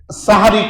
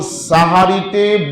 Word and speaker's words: সাহারি: কারণ সাহারিতে বরকত রয়েছে। সুবহানাল্লাহ। বলেনতো সাহারি না সেহরি? সেহরি না সাহারি? সুবহানাল্লাহ। সেহরি বললে জাদু হয়ে যায়। জাদু করা। আরবিতে সেহরির মানে কি? জাদু করা।